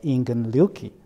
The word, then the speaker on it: Ingen Ryuki: So his name in Japanese will be pronounced as Ingen Ryuki, right?